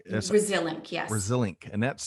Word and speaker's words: Resilinc: Um, so you mentioned the company Resilink, right? That's Resilient, yes. Resilink, and that's spelled, folks.